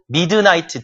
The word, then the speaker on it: midnight: 정확히 밤의 한 중간이란 말로서 midnight 한 단어고 midnight 드 발음이 거의 발음이 안 되고요. midnight 이렇게 발음하시면 됩니다.